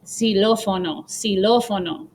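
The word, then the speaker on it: xilófono: out some examples so at the beginning of the word it's going to make a z sound just like in english so xylophone is silofono okay and just fyi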